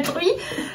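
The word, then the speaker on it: Truyes: Alors ne s'écrit pas. Ne s'écrit pas la femme. Ne s'écrit pas comme la Truy. C'est un village qui s'écrit T-R-U-Y-E-S. Mais qui se prononce Truy. Donc qui est en comme Druy sans le S.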